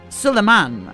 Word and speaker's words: Solomon: He told her of the parchment's origin, a decree from King Solomon, or Sulaman, I believe, was the original pronunciation before the English well do what they do.